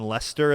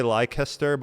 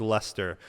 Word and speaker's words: Leicester: i think it was in leicester is how you say it i always say lycaster but i think it's lester they were not paying